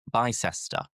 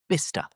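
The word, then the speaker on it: Bicester: So again, looking at the pronunciation, looking at the spelling, you would probably think ah byester, but no, forget the cester. It's just bister bister.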